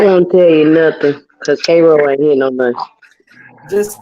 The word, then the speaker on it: Cairo: Cairo. Oh, K. Yes, K. Man, why don't they just replace the C with a K and make it easy? Okay, my bad. That won't tell you nothing because Cairo ain't here no much.